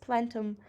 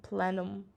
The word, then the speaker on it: plenum: saying this word incorrectly plenum presentations what is platinum i need to find out the meaning and then i'll pronounce it correctly next time plenum like planned well there's a brand